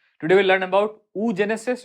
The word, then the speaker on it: oogenesis: today we'll learn about उ जेनेसिस which is also pronounced as ओओ जेनेसिस ठीक है तो देखो